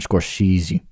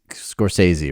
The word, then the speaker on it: Scorsese: and um oh yeah whenever I pronoun pronounced Martin scorsi I was just like I don't I I know it's scors Scorsese right yeah I didn't know